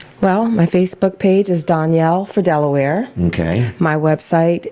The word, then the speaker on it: Donyal: but you know that the pronunciation is one thing the spelling is another so it's d-o-n-y-a-l four spelled out and delaware that's right it's danielle not don yale that's right okay it's like danielle with an o okay yes it is